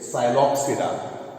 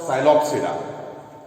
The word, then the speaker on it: Psilopsida: Here P is silent. P is silent. So it is Psilopsida.